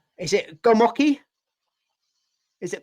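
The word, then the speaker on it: gołąbki: I don't know if I pronounce this right. Is it gomoki? Is it gomopki, the Polish dish?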